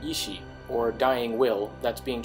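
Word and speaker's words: 遺志: This is pronounced pretty much the same as the term ishi, or dying will, that's being translated as blood echoes.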